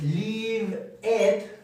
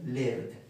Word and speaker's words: lived: No vamos a decir live it, sino es lived.